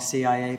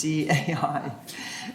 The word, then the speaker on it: CAI: I always say it wrong, CIA, but it's CAI.